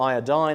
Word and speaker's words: iodine: Now, iodine, or iodine as it's pronounced in the United States by a lot of people, can help with the nuclear morphology, with just identifying the nuclear morphology.